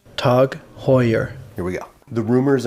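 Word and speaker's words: TAG Heuer: swipe at Apple before we start it is pronounced tug Hoyer here we go the rumors are now confirmed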